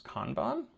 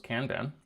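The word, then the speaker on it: Kanban: Today we are going to be working on the which I just learned how to pronounce conbon. I thought it was Kandan.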